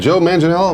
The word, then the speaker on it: Manganiello: middle until oh is that how you said Joe Manganiello was exactly right that is pronounced ago Manila yeah ok well I'll start